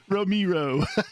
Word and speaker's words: Romero: George gentle, Ramiro. Just a gentle twist of the knife. I like George Romeo. Romero.